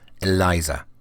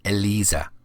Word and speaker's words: Elisa: Just a quick editorial note to say that at the time and up until very recently, I did think that her name was pronounced Eliza. It's actually pronounced Elisa.